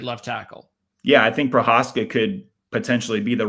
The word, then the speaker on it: Prohaska: By the way, if how do you pronounce his name? Prohaska.